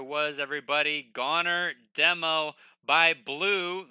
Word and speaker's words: Bleu: Goner Demo by Blue. The official pronunciation is Blue.